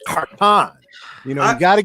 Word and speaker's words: Khartan: say my clling on name and they say carton as in as in carton I'm like no no no it's Kon you know you got to get those accents